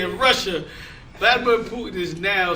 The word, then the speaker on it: Vladimir Putin: In other news, so Russia, uh, Vladimir Vladimir Putin, that's how you say his name. Vladimir Putin, it's like an international show.